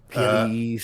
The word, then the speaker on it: PLEs: __ ] time or ples as they're called now please premium Live Events yeah yeah it's yeah it's not just call and pay-per-views or shows that's one syllable done but yeah I've